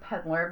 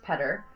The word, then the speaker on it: Petter: I was saying Peddler, but it's no L in there, so it's Petter.